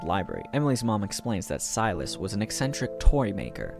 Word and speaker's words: Silas: that their great grandpa selus used to own is that how you say it oh nope it's silus thank God for Google